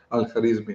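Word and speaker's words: Al-Khwarizmi: Al-Kharizmi became, when it went into the Latin languages, countries where they spoke, they couldn't pronounce the kh, so they made it algorithmi. Algorithmi became algorithm.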